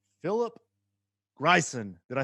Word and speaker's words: Greisen: So Danish and German descent, and it looks like Greason, but the Germans pronounce it Greisen. Greisen. Kind of Yeah, like a Spanish roll on the R.